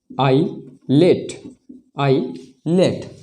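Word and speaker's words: islet: और एग्जाम्पल देखें तो आई, एस, एल, ई, टी, इसका उच्चारण क्या हो जाएगा, आई लेट।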